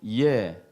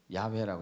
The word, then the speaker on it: 야훼: 이것은 이제 히브리어로 예호바. 예호바가 무슨 뜻이죠? 야훼라고 읽어요. 야훼. 혹은 예호바. 자, 이것은 요드란 단어고 요드.